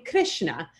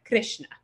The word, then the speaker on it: Krishna: So that R with the dot under it is pronounced sort of like an R-I, R, Krishna, or Svasra, or Duhitra, which is daughter.